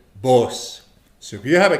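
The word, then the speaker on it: poosa: Boss. And it's spelled P-O-O-S-A. You don't say the bossa, boss. Silent A.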